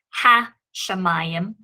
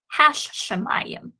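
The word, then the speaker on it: השמים: of the sheen there doubling the pronunciation of the sheen so therefore in this particular instance i would not pronounce this word as ha shamayim i would say hashem and you can hear the doubling of the sheen there when i say that so coming on down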